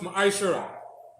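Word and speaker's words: מעשר: Means tenth in the Hebrew and is pronounced ma'ashara.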